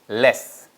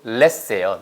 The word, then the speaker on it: less: ready Here we go number one l s 발음은 잘 보세요 less 이게가 아니고요 앞에 우리말에 어이 있죠 아이가 아니고 에가 아니고에 그래서 똑같이 얘도 less예요 less 보세요 less 아시겠죠 your turn 레 아시겠죠